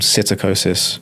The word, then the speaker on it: psittacosis: that broke out called psittacosis. Psittacosis is just is named after the parrots. So, like, Cetacine birds are parrots. Okay. It's like a silent P and then SCITT.